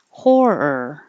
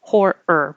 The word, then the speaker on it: horror: rearing rearing woven woven horror almost exactly two parts horror but Blended together horror Once you pull it back for the r hold it there to make the second ER noise horror horror movie scorcher